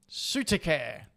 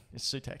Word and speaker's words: Sutek: I can never say this properly. Sutekare. Thank you. It's not. That's not how you say it. Sutek. It's Sutek.